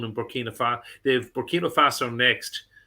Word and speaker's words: Burkina: to see if someone who knew who that Burkina Faso player was. How do you spell it? I got B-U-R-K, Burkina, it's I-N-A, B-U-R-K-I-N-A, and then F-A. Was I calling them Burkino?